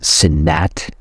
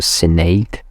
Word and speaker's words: Senate: was censured in the sinat I have to check this right pronouncing sorry for my French pardon my French click I I just I'm not sure it's senato Senate Sam a senate okay English English language always